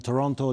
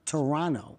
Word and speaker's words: Toronto: They're going to respect me because you don't pronounce the T. That's what I learned. Toronto. Toronto.